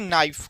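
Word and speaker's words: knife: तो नाइफ में जो एन है ना एन सॉरी के के साइलेंट है। हम लोग के को साइलेंट रखते हैं। फिर पढ़ते हैं नाइफ।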